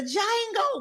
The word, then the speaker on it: Django: these hats the the Jango we not call those Django hat no it's not Django the D is silent that's what he said